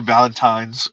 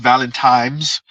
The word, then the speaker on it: Valentines: For those of you that do have a Valentine's, enjoy your Valentines, right? Talk about mispronouncing words. Valentines, right? Not Valentimes.